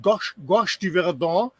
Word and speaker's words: Gorge du Verdon: It's called Gorge du Verdon.